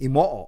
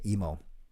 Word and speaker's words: Imoo: You actually say the name Imoo. In Japanese, you say every syllable. So I-M-O-O is actually Imoo, but I say emo.